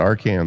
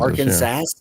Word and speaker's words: Arkansas: I call it our Kansas. Arkansas.